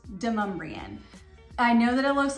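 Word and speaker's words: Demonbreun: a lot of times the GPS, if you've got the audio on, will be saying Demon Bruin, but it is actually Demumbrian. So that's one way to know if you're not local. We can hear people say, oh, you know, on Demon Bruin Street. Nope, it's Demumbrian.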